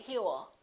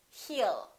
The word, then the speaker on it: he'll: i'll talk to you he will remember don't pronounce that w a lot of my students still tend to put little w and they say hewl it's not heal it's heal heal he'll call you he'll